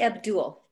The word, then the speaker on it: Abdul: um is that right it's actually abdul oh abdul okay great welcome abdul